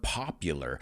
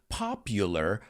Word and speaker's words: popular: careful with this word popular el hido mucha gente de and it's popular the u is pronounced like the letter u popular party palaces and a